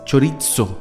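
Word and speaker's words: χωρίζω: Sí, esa es una palabra que es chorizo, se pronuncia.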